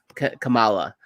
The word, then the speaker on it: Kamala: She's more like a college aged Kamala, right? That's how you pronounce her name.